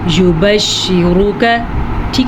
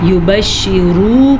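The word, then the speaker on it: يبشرك: کے اوپر زبر ہے۔ یبشرک، پھر سے کسی بھی لفظ کو لمبا نہیں کرنا، پیش ہے، زیر ہے، زبر ہے، یبشرک، ٹھیک ہے. کسی لفظ کو اگر کوئی پڑھے گا یبشرو کا تو اس نے را کو بھی لمبا کر دیا, کا کو بھی لمبا کر دیا.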